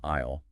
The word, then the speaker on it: aisle: Like, you have to walk down an aisle, and that's a word spelled A-I-S-L-E, where the S is entirely silent.